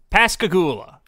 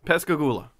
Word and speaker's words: Pascagoula: it you just had it open i did pascagoula the pascagoula alien production is that a place pescagoola pasagu pascagoula mississippi how do you spell it